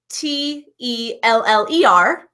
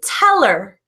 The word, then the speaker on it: tell her: when it's linked so when we say tell her and we're saying it really quickly we actually don't pronounce that H we say teller teller teller which is